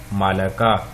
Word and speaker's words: ملکہ: لفظ ہے وہ ہے مالکہ، میم کے اوپر زبر ہے، لام کے اوپر بھی زبر ہے، وہاں پہ لام کی زیر تھی، مالکہ، یہ مالکہ۔